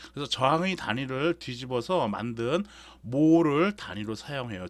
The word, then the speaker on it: mho: 즉 오음을 OHM을 거꾸로 쓰면 MHO가 되지. 그래서 이걸 모라고 읽으면 된다라는 얘기예요.